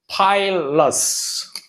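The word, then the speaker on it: pilus: here can you pronounce this how would you pronounce this this pilly which is plural so singular is called pile loss and plural multiple forms it's called pile okay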